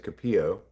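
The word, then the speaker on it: Kapio: A cat's name is Capio. It's a Hawaiian word that means sweetheart. It's spelled K A P I O in case you're ever looking up in the phone book.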